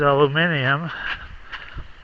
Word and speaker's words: aluminium: This is aluminium, as the British say.